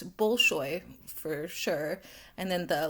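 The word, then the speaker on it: Bolshoy: I may not be pronouncing that uh correctly. It's Bullshoy for sure.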